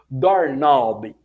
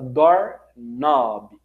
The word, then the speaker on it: doorknob: Doorknob, como eu disse numa outra aula recentemente, quando nós temos o K e o N junto, nós não pronunciamos o som do K, somente do N. Então a maçaneta é a nossa doorknob.